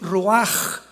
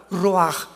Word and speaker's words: ruach: La palabra para espíritu en el hebreo es la palabra que es ruaj, que se escribe ruach con ch, pero repito, se pronunció pronuncia como j, ruaj.